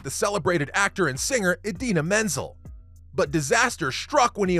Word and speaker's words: Idina Menzel: supposed to present the celebrated actor and singer Idina Menzel. But disaster struck when he opened his mouth. Even with a cue card on hand, John Travolta literally annihilated her name's pronunciation, calling her Adele Dazeem.